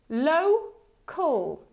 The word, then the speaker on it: local: it together local so also pay attention that this o hair it's O right so it's not local it's low cool local it's like home phone right local local repeat